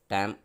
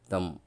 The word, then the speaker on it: தம்: நீங்கள் உச்சரிக்கும்போது சரியாக உச்சரிக்கணும். டேம் அப்படின்னு சொல்லக்கூடாது, தம் அப்படின்னு சொல்லக்கூடாது, தம் அப்படின்னு சொல்லணும்.